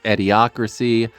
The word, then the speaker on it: Ediocracy: to pronounce his name it's ediocracy it's a play on Idiocracy and a combination I've never actually explained